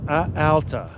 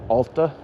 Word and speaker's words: Alta: wait is it Alta Joe says ala like altitude I've always said ala but I don't know if it's a pronunciation thing more than an accent you know Noah noaty got mad at me for saying Ulta I said I don't